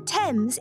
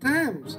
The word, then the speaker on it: Thames: Even as we speak, the goddess of the Thames is... Oh, it's pronounced Thames.